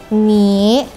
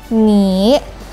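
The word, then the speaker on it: 你: Nada ketiga ada turun terus naik jadi tinggi, rendah, tinggi atau ni, ni artinya kamu.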